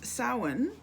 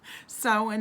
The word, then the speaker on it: Samhain: And then 9 is Samhain, and that's how that word is pronounced. A lot of people don't know how to pronounce that word because it's a Gaelic word, and I'm Irish too.